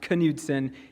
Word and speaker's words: Knutson: pronouns are he him yes my last name is pronounced Knutson and I do go